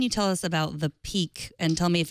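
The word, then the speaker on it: PIQ: uh what can you tell us about the peak and tell me if it's the peak or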